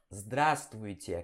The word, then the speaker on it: здравствуй: Zdra, né? Zdra, letra Z aqui. Zdra. Aí vem o S. Zdras. Zdras. Aí vem tvui, né? Tvui. Tvui. Здравствуй. Здравствуй. Ok? Здравствуй. E aí vem o tie, ok? Здравствуйте.